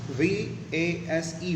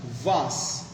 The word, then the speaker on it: vase: VASE, vase. It can be pronounced in two ways. In British English, it is pronounced as vase.